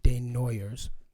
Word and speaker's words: Desnoyers: He pronounces it Desnoyers, but they've Americanized it. It's French as hell.